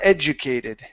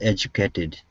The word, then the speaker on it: educated: educated so it's j the J the D is going to be a j sound well Edge well educated well educated good awesome nice job thank